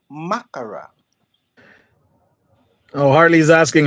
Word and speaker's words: makkara: Makara. Makara, Makara. not Well, you makara. know, Makara. Makara. You have to pronounce all the words, all the letters.